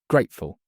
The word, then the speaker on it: grateful: stress on second part grateful. Grateful stress on first part wallet.